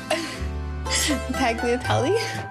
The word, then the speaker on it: tagliatelle: Tagliatelle? No. Tagliatelle. Oh, sorry. The G is silent. Oh, all right. The G is silent G.